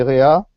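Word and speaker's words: רֵעַ: Mais le même mot prononcé réa signifie l'ami, le compagnon.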